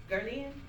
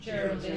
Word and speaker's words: Geraldine: Gerlin? Okay. Is that how you pronounce it? Geraldine. Geraldine. I was like, is it Gerlin or Geraldine? Geraldine.